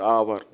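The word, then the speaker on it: hour: number 31 31 है सी return after dash आवर आवर में एच हो गया भवेल ले कंसोनेंट हो गया एच लेकिन उच्चारण दे भवेल का से इसका प्रोनंसिएशन नहीं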